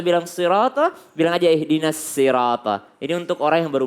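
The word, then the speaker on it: صِرَاطَ: Banyak kesalahan di sini membaca sod itu seperti dia membaca syah. Bedakan Bu, syah dan sod. Sod ini lebih dekat ke sa sebenarnya, lebih dekat ke sin ya. Jadi kalau ada orang susah membaca sirata, dia bilang syiratal ladzina, lebih baik dia baca siratal ladzina, lebih dekatlah ke huruf sod dibanding dia bilang syiratal ladzina.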